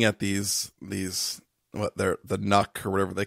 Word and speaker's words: NUC: NUC. Say it like truck or luck.